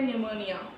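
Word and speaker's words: pneumonia: इसमें जो पी है वो साइलेंट है, इसको हम प्रोनाउंस करते हैं निमोनिया।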